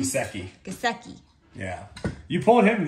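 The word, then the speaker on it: Gesicki: Gusecki.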